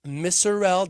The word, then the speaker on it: Misurell: Today I have the pleasure of welcoming Travis Murell. Did I pronounce that correctly, sir?